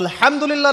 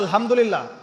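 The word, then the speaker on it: الحمد لله: তো আলহামদুলিল্লাহ না বলে সে বলেছে আলহামদুলিল্লাহ। ওই যে হায়ের উচ্চারণ পরিবর্তন হয়ে গেছে, এই কারণে অর্থ পরিবর্তন হয়ে দাঁড়াবে যে সমস্ত নিন্দা আল্লাহর জন্যে, যিনি জগৎসমূহের রব।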